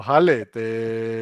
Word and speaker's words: Khaled: Se nos han unido aquí Alfonso y Khaled. ¿Lo he pronunciado bien? No. Alfonso, me equivoco en Alfonso, seguro. En mi caso es. Khalid. No, Jale, como si fuese una J.